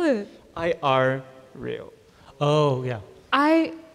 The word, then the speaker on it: irreal: I R real. Oh yeah. I R real. Wow. I real. Yeah. Sorry. Yeah. Like not surreal. Irreal.